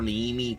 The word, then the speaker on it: Neve: Neve is so good, right? That's the proper way to say her. I like to call her Neemi because, you know. But yeah, I think her proper name is Neve.